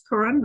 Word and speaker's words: Curran: Do I pronounce that right? It's Curran, right? You sure did.